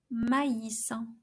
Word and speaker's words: maïs: So each vowel is pronounced separately. Maïs, which means corn.